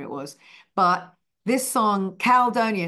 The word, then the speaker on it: Caldonia: band were like Jude it's calonia so they taught me they schooled me in how to actually pronounce it properly in a New Orleans way and uh that's Louis